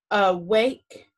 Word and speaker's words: awake: it's not accented so when a is open and not accented it usually makes the schwa sound remember uh awake in the schwa is that upside down e awake the schwa sound